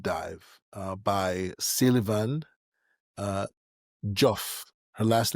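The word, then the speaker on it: Diouf: For anyone who wants a deep dive uh by Silivan uh Joff, her last name is Joff. It's spelled D I O UF.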